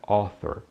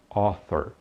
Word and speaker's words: author: Autor em inglês é author. Está vendo esse AU de novo aí no início da palavra? Então pronuncie com O, author, author.